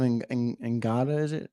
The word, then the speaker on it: Ngata: What about Joseph Ngata? Is that how you pronounce it?